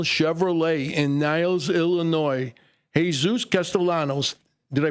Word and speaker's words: Castellanos: Jesus Castellanos. Did I pronounce that right, Jesus?